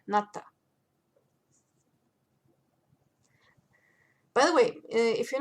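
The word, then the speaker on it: НАТО: This is NATO, or as the Russians would say, NATO.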